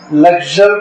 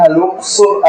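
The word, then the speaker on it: الأقصر: کا موجودہ دور میں نام الاقصر ہے، لگژر بھی اس کو انگلش میں کہتے ہیں، الاقصر عربی میں اس کا تلفظ ہے۔ جو آپ اگر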